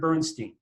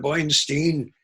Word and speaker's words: Bernstein: So this one person walked in and he said, Mr. Bernstein, he always pronounced it Stein. He said, Mr. Bernstein, my uncle played the trombone.